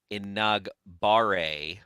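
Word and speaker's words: Enagbare: to say this right inaugure with the accent on the nog and let's roll the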